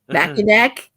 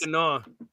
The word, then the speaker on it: Mackinac: Mackinac? What? It's not Mackinac. That's Mackinac. I'm Nope, sorry. it's actually pronounced Mackinac.